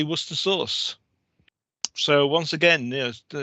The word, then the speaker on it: Worcester sauce: They keep on going Worcestershire, but in fact in England we just say Worcester sauce.